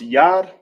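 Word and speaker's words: יד: in the ancient is called it's sound it's pronounced Yad in ancient spelled from right to left y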